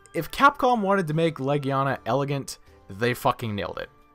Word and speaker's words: Legiana: Or is it Legiana? I never honestly figured out how to say her name. Is it Legiana, like your leg, or is it Legiana, like the word legion? And whatever.